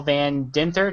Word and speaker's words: Van Dinther: This is actually a Project Geo special, and tonight we're actually doing the Exploring A Tour with Van Dinther. Did I pronounce that correctly?